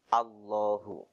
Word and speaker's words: الله: Usahakan ketika melafalkan Allah, A diucapkan dengan jelas A, jadi jangan O ya. Jadi bukan Allah tapi A, Allahu ya. Jadi hamzah fathah A, bukan hamzah fathah O ya.